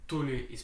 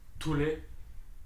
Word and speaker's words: Thule: the unboxing of the Tuli Free Ride twin pack I checked on the internet how tul is pronounced I thought it was tul d uh whatever but it's the Tuli Free Ride twin pack